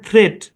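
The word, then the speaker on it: threat: right okay তারপর দেখেন ই এ টি উচ্চারণ কি নিয়ম অনুসারে হওয়ার কথা ছিল থ্রি ইট কিন্তু এটা ভাই এর সাউন্ড দিবে তাহলে উচ্চারণ হবে থ্রেড কি উচ্চারণ হবে থ্রেড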